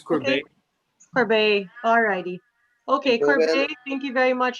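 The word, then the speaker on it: Courbet: it okay it's misspelt it's c-o-u-r-b-e-t so it's corbin for bae all righty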